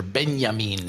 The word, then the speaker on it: Benjamin: Uh Jacob Zidarich is the son of Benjamin Zidich or Benyamin if we want to use the uh the Italian pronunciation who started bottling his wines at the Zidic winery in the late 1980s.